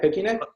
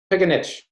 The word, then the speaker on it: Pickenich: Picnic? Close enough. Oh, it's all recorded. Just correct me real fast. Pickenich. Congratulations, Pickenich.